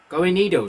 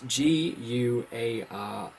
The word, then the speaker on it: Guarnido: This is Blacksad, which is written by Juan Diaz Canales and illustrated by Juanejo Gorenido. Sorry. It's Guarnido. I cannot pronounce that name properly.